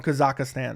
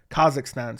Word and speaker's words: Kazakhstan: 10 and0 guy from kazakistan okay Kazakhstan sorry I don't know why I just butchered that as I was trying to read it off my screen